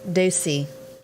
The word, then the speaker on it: Ducey: me just say that how do you pronounce his last name again ducey that's how they say you ever sit back